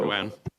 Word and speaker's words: Doan: My last name is Doan, so Vietnamese because of the French influence. We pronounce it Doan, but I'm used to being called Don as well, similar to